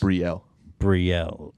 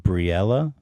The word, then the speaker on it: Brielle: I think it's just Brielle. Brielle. Pronounced Briella?